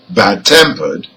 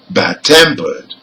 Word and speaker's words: bad-tempered: listen to an example bad-tempered the stress is on the second part so for adjectives which are compound nouns the stress is on the second part let's hear it again bad-tempered another example old-fashioned again